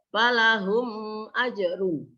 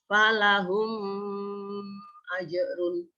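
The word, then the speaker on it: فلهم أجر: Selanjutnya, falahum ajrun. Dibaca idhar syafafi, yaitu dibaca jelas. Karena ada huruf mim sukun bertemu dengan huruf alif. Maka membacanya falahum ajrun.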